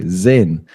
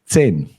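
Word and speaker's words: zehn: the beginning I in they might read it very softly like Zen but it is a like like a TS you could say 10 10 yes all right okay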